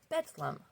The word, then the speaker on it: Bedlam: Named Bethlehem after Bethlehem, it was later pronounced as Bedlam. So Bethlehem, Bedlam, Bethlehem, Bedlam, Bethlehem.